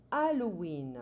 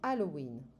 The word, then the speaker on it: Halloween: Octobre, c'est Halloween. We don't pronounce the H in French. C'est Halloween.